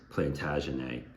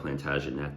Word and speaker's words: Plantagenet: where they lay and called mine Percy his plantagen probably supposed to pronounce that plantagenet but I like to say plantag cuz it